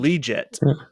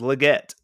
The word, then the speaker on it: Legette: a tough combo um he kept calling him leeet he's like Bry young to liette that's not his name his name's Legette he'll that's how he pronounces it so rich heisen